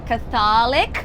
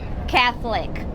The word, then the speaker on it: Catholic: Many people would say Catholic, porque a gente fala católico, but in English, Catholic. Catholic. Only 2 syllables actually.